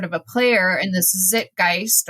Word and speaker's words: Zeitgeist: a player in this zit gist or zeit how do you say it Zeitgeist I should know my